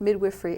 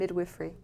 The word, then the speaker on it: midwifery: and going through the midwiffery. How do you say that? Yes, that that was correct. Midwiffrey. It's midwife and midwiffrey.